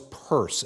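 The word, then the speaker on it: Peirce: And he promoted an American philosopher by the name of Charles Purse. It's spelled pi rce but pronounced purse.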